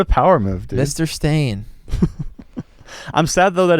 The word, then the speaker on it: Stane: power move dude Mr stain I'm sad though that his name isn't actually spelled s t a i n but it's pronounced it's pronounced stain it's yeah but it's